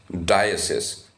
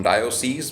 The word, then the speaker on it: diocese: So its pronunciation is diocese, not diocese, because when you look at it, it looks like it should be diocese.